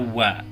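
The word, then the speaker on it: は: Namun dalam pola kalimat seperti ini, huruf yang sebenarnya H ini dalam pola kalimat ini dibacanya wa, jadi bukan dibacanya H.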